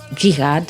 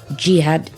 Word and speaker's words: Cihad: not my name so this is the true pronunciation uh Jihad yeah Jihad yes perfect yeah and H you were